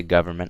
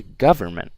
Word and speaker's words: government: when I say government you can see that stress on the first part right so I don't say government I say government right you can see